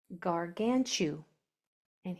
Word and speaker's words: gargantuan: So, that third syllable from the end is going to be accented. That's going to be said stronger. Gargan. Here we have chew. Gargantu. And here we have a nun.